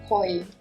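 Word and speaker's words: 鯉: so she was saying COI the fish name sounds like the word love in Japanese so it's supposed to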